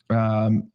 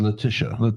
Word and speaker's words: Letitia: James Comey, Lenita James, our Attorney General. Letitia James. Well, I like Lenita better.